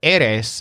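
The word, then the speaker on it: eres: a tall person now note that Eris has two syllables the stressed syllable is the first one which sounds kind of like air so when you want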